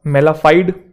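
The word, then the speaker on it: mala fide: मेलाफाइड, कुछ लोग इसे फाइडी भी बोलते हैं, कुछ फर्क नहीं पड़ता, वो प्रोनाउंसिएशन चलता है ऊपर नीचे, यूके यूएस वाला।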